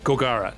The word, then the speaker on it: Gogara: it's just really comfy so gogurat go gogara not gokura golgara the emphasis is on the wrong syllable uh gogara turns it